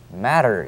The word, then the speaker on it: matter: a matter of fact, T를 사이에 두고 양쪽에 모음이 왔을 적엔 T가 우리말에 가까운, 우리말 ㄹ에 가까운 그런 발음이 됩니다. 결국은 matter가 아니고 matter 이렇게 발음합니다.